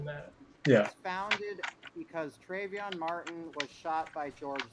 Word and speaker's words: Trayvon: Also, it's Trayvon. Trayvon. I don't know everything either. Yeah, you can't be racist and mispronounce this.